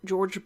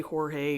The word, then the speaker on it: Georges: his name is said georges braque i always want to say jorge because i live so close to mexico anyways a very limited